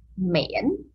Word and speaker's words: miễn: Miễn, dấu ngã, the tone is called dấu ngã. Okay, and the word is pronounced miễn, miễn.